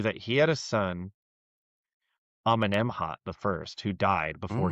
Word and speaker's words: Amenemhat: Amenemhat.